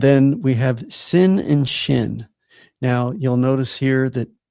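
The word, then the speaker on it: ש: So sin is just a regular s as in sin. And shin is the sh sound that we have in English like ship.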